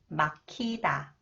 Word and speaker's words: 막히다: consonants 기어 it combines with h It is pronounced AS 막히다 막히다 퇴근끼리 막히다 퇴근길이 막히다 퇴근길이 막히다 퇴근길이